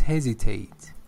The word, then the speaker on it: hesitate: far as I know it is hesitate with Z yeah let me take